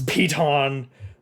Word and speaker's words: piton: of 10 pitons titans i think it's piton there's there's so many gm's who don't know how how to pronounce that it's it's like a it's like a a joke this nobody knows how to pronounce piton but it is indeed pronounced piton uh so you have